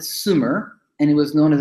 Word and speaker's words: Sumer: from the south and because he was a French guy you know he pronounced it Sumer and he was known